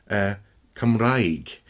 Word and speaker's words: Cymru: welsh either in fact the word for welsh come reg mm or whales come v or Welsh people come ro it's spelt cymru for example whales come ree and but it's it's pronounced come re there's